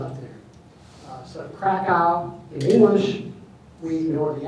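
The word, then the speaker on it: Kraków: So Krakow, in English, we ignore the accent, but the accent's important. So Krakow in the middle, the W is pronounced as a V, so the pronunciation is actually Krakow.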